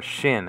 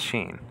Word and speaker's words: shin: to call this letter shin and not sheen. So there are Hebrews out there that call this letter shin and not sheen, and it's the other way around sometimes.